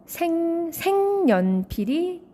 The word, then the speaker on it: 색연필: 기역 다음에 온 그 니은 때문에 기역이 같은 조음 위치의 비음인 이응으로 바뀌게 되죠. 바로 비음화가 발생합니다. 그래서 결과적으로 생연필이 발음이 되는 거죠.